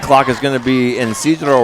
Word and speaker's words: Isidro: 25-second clock is going to be Isidro Roman Jr., pronounced Cedro.